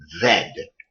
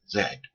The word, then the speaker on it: Z: on an axle okay it is pronounce X Y Zed so if you see another tutorial and they say well on the Zed axis that's the Z axis it's properly pronounced Zed to move along one